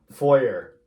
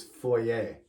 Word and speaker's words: foyer: way right and if you're American you're safe foyer but that is a terrible way of pronouncing that it's foyer and foyer is a Lobby in a building